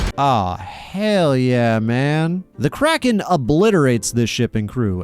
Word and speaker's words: Kraken: Always heard it says Kraken. Oh, with a long A. No, no, no, no, no, no, no. Crockland's how it's pronounced in the original Scandinavian and Kland's closer to that.